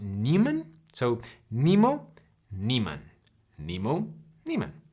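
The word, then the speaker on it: Niemann: Newman p disase and I think it's it's pronounced Neiman so Nemo Neiman Nemo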